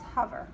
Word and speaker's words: hover: But you were smart and you remember that it's a short O on there. So it's hover.